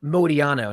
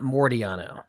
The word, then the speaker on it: Modiano: So it's Jordan Modiano, not Mordiano. No R there.